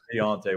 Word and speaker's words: D'Onta: We're afraid we're saying it wrong. Please pronounce it for us so I can take it back to the crew. It's Deontay.